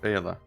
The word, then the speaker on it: Fagella: Fayella? Fayella, yes. Fayella. Yeah. Like Silent G, Paella, okay. but Fayella. But it's with the G. Which is silent. It's a silent G apparently.